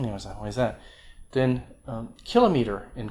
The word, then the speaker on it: kilometer: ago pangea you know why is that then kilometer in kilometer both pronunciations are okay in english when i was